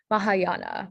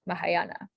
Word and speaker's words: Mahayana: again okay um so the language pattern here is that the ah sound dispelled with an a this is a pretty you can kind of spell it how it sounds so the correct spelling